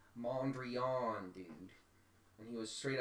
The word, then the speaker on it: Mondrian: It's pronounced Mondrian, dude.